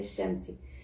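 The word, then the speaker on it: शान्ति: Se pronuncia Shanti, que significa paz, né?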